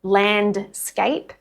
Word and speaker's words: landscape: Landscape becomes landscape.